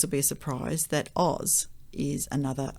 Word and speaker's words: Oz: Overwhelmingly, the later evidence is for the OZ spelling, with the final sound pronounced as a Z, yeah.